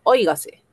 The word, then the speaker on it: óigase: ¿Cuántas sílabas tiene? Óigase. Oiga. C. ¿Dónde tiene la mayor fuerza de voz? Aquí. Oy. Gace. Si tu si tuviera la mayor fuerza de voz aquí al final sería aguda. Si lo tuviera aquí en la penúltima en G sería grave.